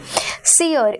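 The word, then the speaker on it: sere: हियर in this sentence सीयर इसे सीयर की तरह प्रोनाउंस किया जाता है जिसका अर्थ होता है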